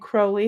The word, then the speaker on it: Crowley: And Crowley is how you say it. I'm going to try to say it the correct way. It's not Crowley, it's Crowley.